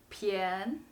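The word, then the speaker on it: 便: what about this word it can also be pronounced pian so practice with me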